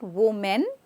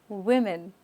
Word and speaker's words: women: next word is women not woman women okay so the wo okay is with w we okay women so the men is not women it's women so say that women see